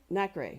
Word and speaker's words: nacre: coating it with multiple layers of, can you pronounce that? Nacre, thank you.